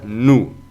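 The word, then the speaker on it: nous: así pero se pronuncia nu la s final no suena y la ou pues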